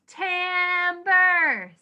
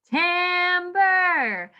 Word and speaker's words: timbre: okay we are talking about tambour say that timber i like to say it like that because it sounds like timber which is what you